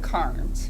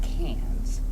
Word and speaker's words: Cairns: In Cairns, Oy. which looks like Carnes, Yes, but it's pronounced Cans.